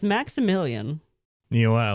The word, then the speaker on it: Maksymilian: It's Maximilian. You know what? I like it. But it's spelled MAKSYMILIAN.